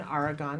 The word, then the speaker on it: Aragon: um yes you are I I pronounce it Aragon argon okay well that's good to know and his mom Sharon Aragon is with us as